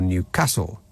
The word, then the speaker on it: Newcastle: receive the same friendly service says Nigel from Newcastle or Newcastle as it's more properly pronounced um yes but I wasn't talking about